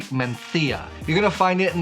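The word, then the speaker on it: Mencía: a native English speaker it looked like it might be pronounced Mencia or Mencia but it's actually menthia you're gonna find it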